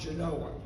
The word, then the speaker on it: Genoa: Our first game was against Genoa, spelled Genoa, pronounced Genoa.